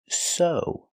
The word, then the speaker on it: sew: That's right, this word is pronounced so. The EW makes the long O sound like know and grow.